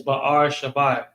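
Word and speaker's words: Be'er Sheva: Beersheba, which means well of the sevenfold oath. Sheba is another. Shabai is actually the correct way to say it. It's Ba'ar Shabai.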